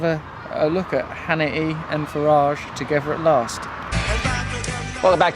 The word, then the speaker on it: Farage: a bit pernickety and fussy Oh actually it's Faraj uh-huh just a car roll with it and